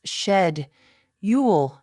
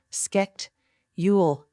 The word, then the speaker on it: schedule: It's shed ule not sketch ule garage.